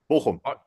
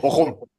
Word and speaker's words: Bochum: Yeah, Bochum. Bochum. What is it? How do you say it? Bochum. Bochum. You say it? Bochum.